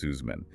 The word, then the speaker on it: Suzman: We are exploring the work of Adam Sussman, and for those taking notes, that's spelled S-U-Z-M-A-N, but it's pronounced Sussman.